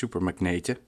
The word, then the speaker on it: Supermagnete: I don't know how to pronounce this in English, but it's Supermagnete. It says 15 years, thank you very much.